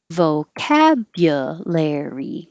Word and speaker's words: vocabulary: it's a longer word like vocabulary vocab cat is higher and longer via lair layer gets longer but not higher because if you went higher it would be too jumpy for english vocabulary vocabulary and we